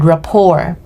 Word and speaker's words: rapport: you pronounce that word rapor you don't pronounce the T now here's our first